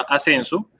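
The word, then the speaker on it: A2censo: Nosotros en Impulsa, con la Bolsa de Valores de Colombia, tenemos ya una plataforma de crowdfunding que se llama Ascenso, se escribe A2 Censo, y ya hemos logrado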